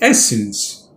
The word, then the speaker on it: essence: today's word is essence there are two syllables and the first syllable s is stressed as essence it means the basic